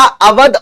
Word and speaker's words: अवध: चलो, अब बच्चों ने कहा था कि सर क्या अवध और औध का मतलब अलग है? नहीं यार, अवध कह लीजिए या औध कह लीजिए, मतलब रिमेन्स द सेम, कहने का तरीका अलग है, स्पेलिंग अलग अलग है।